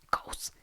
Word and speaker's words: Kvothe: Me llamo Kvoth, que se pronuncia... Kous.